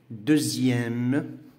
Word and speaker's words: deuxième: Alors, on a le son X, ça se prononce Z, qui est Z. هذا في الحالة ديال les adjectifs numéro ordinaux في واحد الصفات ديال الترتيب. Par exemple, deuxième, sixième, dixième.